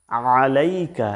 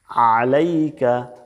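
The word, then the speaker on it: عَلَيْكَ: টান আছে আসসালাম মিম পেশ মু আসসালামু বাংলা উচ্চারণ দেখুন আসসালামু অর্থ শান্তি এরপর দেখুন আলাইকা এখানে আইন দিয়া আইন কিন্তু গলার মাঝখান থেকে চাপ দিয়ে বলতে হয়। আলাইকা আলাইকা এখানে বাংলা উচ্চারণে আছে আলাইকা।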